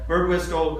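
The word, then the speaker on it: Birdwhistell: Margaret me and uh bird Wile am I pronouncing his name right whistle yeah bird wistle who uh at the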